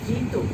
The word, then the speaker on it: ধৃত: যেমন একটা উদাহরণ দিয়ে বুঝিয়ে দিই, যেমন ধৃত, ধৃ ইত, তাহলে এটা উচ্চারণ হয়ে যাবে ধৃ তো।